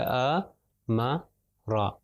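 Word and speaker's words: أَمَرَ: الف، میم اور را۔ تو الف کے اوپر جب زبر آیا تو ہوگا ا، میم کے اوپر زبر آئے تو ہے ما، اور را کے اوپر جب زبر ہے تو را۔ تو اس کو ملا کے جب پڑھیں گے تو اس طرح بڑھے گا ا، ما، را۔ اور اگر تھوڑا سا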